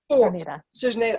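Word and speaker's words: Czerneda: but I do have a clutch with Julie Cisnerda. I'm not sure how you pronounce her last name. Cerneda.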